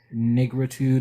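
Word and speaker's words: négritude: There was a movement in France that, I think it's pronounced negritude or something like this.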